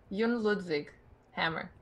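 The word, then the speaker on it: Jon Ludvig Hammer: you do me a solid maybe can you pronounce his name for us yes Yun ludvig Hammer I said the first two trying to pronounce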